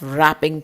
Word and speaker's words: wrapping: Dazzling colors, brilliant, lavish, grand designs, all drawn on great sheets of wrapping paper. Wrapping, W is silent here.